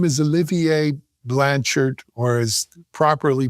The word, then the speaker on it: Olivier Blanchard: So I'm Olivier Blanchard, or Olivier Blanchard, as you rightly pronounced my name the second time.